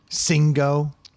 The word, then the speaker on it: Singo: Yo, have y'all ever heard of Singo? Not at all. So this is a thing. How do you spell it? SING-O. Oh. I don't think so. So sing-o. Yeah, it's like bingo, Yeah.